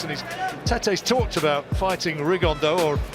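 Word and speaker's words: Rigondeaux: he's talked about fighting rigondo or as he's correctly pronounced with the uh spanish accent rig on dow and look two absolute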